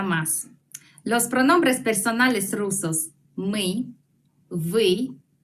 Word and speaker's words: мы: El equivalente de nosotros es мы.